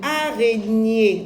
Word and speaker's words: araignée: Une araignée. Alors, déjà, NIE s'écrit GN. D'accord? GN. Donc, on va écrire ici une araignée. Une araignée. Je vois G, mais j'entends NIE.